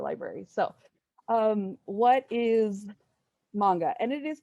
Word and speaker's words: manga: was very embarrassing so um yeah it it's pronounced manga so just fyi but basically manga is it's